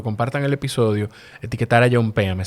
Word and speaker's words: Jompeame: el episodio etiquetar a John pm se escribe hompéame con j al inicio y vayan al enlace